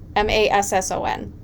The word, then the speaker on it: Masson: Masson.